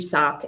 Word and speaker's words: Xoc: And I think that she's really important because this temple is dedicated to Lady Sock, XOC. That's how you spell that.